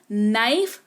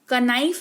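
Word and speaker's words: know: जाता very popular example knife कनाइफ नहीं knife पढ़ते हैं यानी कि चाकू कनोक नहीं नोक पढ़ते हैं यानी कि दस्तक देना कनो नहीं नो पढ़ते हैं यानी कि जानना बात करेंगे आगे बढ़ेंगे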